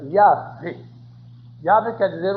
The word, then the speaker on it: Yahvé: Os hebreus chamavam o Uno Yahvé, falsamente pronunciado Jeová. A pronúncia verdadeira deles era Yahvé.